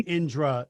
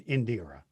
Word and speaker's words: Indira: I mean, it is the the rhythm is Indura. Okay. So, it's closer to Indra than Indira.